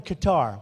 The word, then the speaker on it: Qatar: So this guy's showing me, a wonderful guy, showing me the airport in Qatar, which they say Qatar.